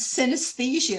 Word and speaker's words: synesthesia: It's about a woman with a condition known as synesthesia.